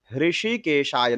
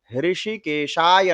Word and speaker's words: ऋषिकेशाय: ओम गोविंदाय नमः या ओम ऋषिकेशाय नमः। ऋषिकेश नहीं बोलना है, ऋषिकेशाय नमः, ऋषिकेशाय नमः।